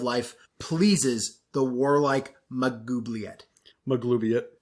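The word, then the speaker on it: Maglubiyet: pleases the warlike magubliet maglubiot i said it right that time my glubiate is glue in it maglubian you spelled it wrong in your notes dan it's maglubiot the l's before the u yes oh dang it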